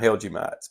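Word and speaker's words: hellgrammite: Well, we call them in the country here, we call them Helgemites. But I think it's Helgramite or something's how you actually pronounce it.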